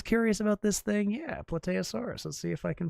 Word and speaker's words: Plateosaurus: about this thing, yeah, Plateosaurus. Let's see if I can find a picture of one. Plateosaurus. Grimnir would definitely support any effort that Bruce is making to tame the dinosaur. Some pronounce it Platiosaurus.